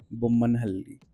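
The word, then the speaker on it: Bommanahalli: Bumman Hali. Yes, this is how it pronounced I around 1.5 years and starting it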